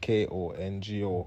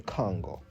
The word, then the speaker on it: Kongo: Congo at the time, this Congo is spelled usually with a Kongo, because this precedes the Congo, which the C is not common in the African language. The K is a more pronounced sound.